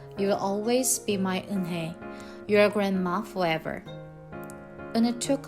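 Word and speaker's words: Unhei: "Yes, it's pronounced Eunhae." "And it means grace," Mr. Kim added. "Eunhae," Joy said slowly and this time perfectly.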